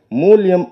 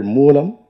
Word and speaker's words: மூலம்: அவர் பேசும்போது மூலயம் என்று மூலத்தை அவர் உச்சரித்தார். அப்படி உச்சரிக்கலாகாது தம்பி மூலியம் என்றால் நிமித்தம் என்று பொருள். இனி வரும் மேடைகளில் நீங்கள் மூலம் என்கிற சொல்லை சரியாக உச்சரிக்க வேண்டும் என்பதை ஒரு வேண்டுகோளாக நான் இந்த மேடையில் சொல்கிறேன்.